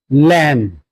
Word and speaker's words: lamb: For example, the word like bomb not bomb, it will be pronounced as bomb. B will be silent. Thumb not thumb. Lamb not lamb.